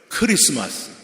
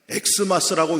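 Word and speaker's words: Xmas: 크리스마스. 엑스마스라고 읽는 분들은 잘못 읽는 거예요.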